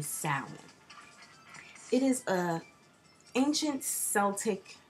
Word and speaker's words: Samhain: It is originally known as Samhain, and some people may say Samhain, but I'm of an understanding that pronouncing it as Samhain is completely incorrect, and it's really Samhain.